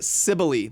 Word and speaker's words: Sibylle: It's Mother Sibylle. That's how you say it.